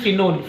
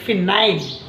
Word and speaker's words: phenyl: I am not saying phenol, phenyl.